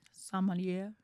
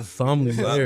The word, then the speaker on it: sommelier: I'm trying to pronounce it the right way. sommelier.